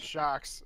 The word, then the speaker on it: Sjokz: Kelsey with the first point, who voted for, I can't pronounce his name, SJOKZ. That's Shocks, and she's a chick.